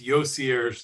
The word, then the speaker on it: YoCierge: this off the top it's yoser like conier don't know how to